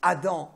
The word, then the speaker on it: Adam: Quand on prend le mot Adam, donc ça c'est en français, on dit Adam ou on peut dire Adam aussi, A-D-A-M. Il faut savoir qu'en hébreu, il n'y a pas 4 lettres, mais il n'y a que 3 lettres.